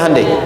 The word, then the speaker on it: Hyundai: Hyundai kan dibacanya Hande ya kan.